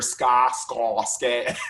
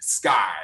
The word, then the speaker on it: SCA: You'll hear ska, and I want sky, you know, reach for the sky.